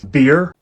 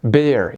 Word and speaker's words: bear: حط لها بقى بي في البدايه هتبقى beer, ايه يا عم؟ في إيه؟ احنا هنهزر. اسمها bear.